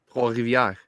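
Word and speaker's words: Trois-Rivières: Trois Rivières. You put the French accent to it.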